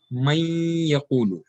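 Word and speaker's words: مَن يَقُولُ: But when man and yaqulu comes, according to the recitation rules of Tajweed, the noon will get joined with the ya, and we will pronounce it as may yaqulu.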